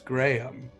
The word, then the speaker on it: Graham: those who don't know the name Graham is pronounced in two syllables Graham like Americans just don't do it and I blame graham crackers because we all say graham crackers there's like a weird